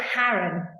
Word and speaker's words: Haran: Yeah, Haran, apparently. Haran.